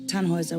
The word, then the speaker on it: Tannhauser: what's your name Tannhauser we pronounce it tan Wazza with an umlaut German roots yes my